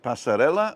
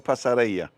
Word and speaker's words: Passarella: do you pronounce this is it pasarella or pasarea with the two l's everybody was saying pasarella